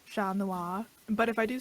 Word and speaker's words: Chat Noir: I just physically cannot pronounce it any way but the French way. It's a failing of mine. I can try it in the French way, Chat Noir.